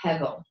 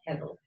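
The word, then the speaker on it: הבל: The word is actually hevel, H-E-V-E-L. And in Hebrew, that's pronounced almost like a B, hevel.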